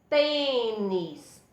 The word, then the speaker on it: tênis: além de deixar a sílaba tônica, ele fecha o som da sílaba. Nós temos também, olha, presente na vogal E, como é o caso de tênis.